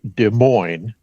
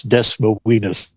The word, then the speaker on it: Des Moines: My favorite is there is a Des Moines here in Washington State, but many of the people here in Washington deliberately mispronounce it as Des Moines.